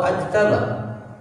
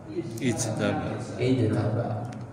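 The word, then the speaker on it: اجتبى: Ijtaba atau ajtaba? Ijtaba. Tadi rumusnya bagaimana? Huruf ketiganya fathah. Jangan diingat hurufnya Pak, harokat yang diingat.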